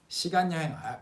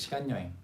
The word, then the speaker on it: 시간 여행: But the pronunciation again 시간 여행. Kind of like that. Or even 시간 여행. 시간 여행. It sounds like that. 시간 여행. 시간 여행 is the standard pronunciation, but in reality people kind of say it like 시간 여행.